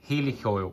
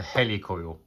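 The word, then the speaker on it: Heli-Coil: I don't know anyway helic oil but it's a hel coil as in helicopter hel coil right so anyway I'm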